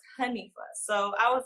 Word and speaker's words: Hanifa: And in Arabic, it's pronounced Hanifa.